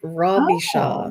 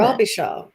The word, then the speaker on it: Robichaud: uh, Akkadian French name, Robbie Shaw. Oh, I love it. Robbie Shaw. There it is. That's how you say it.